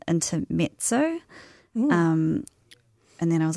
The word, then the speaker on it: Intermezzo: And so, yeah, I picked up what I thought was pronounced intermezzo, but it's actually pronounced intermezzo.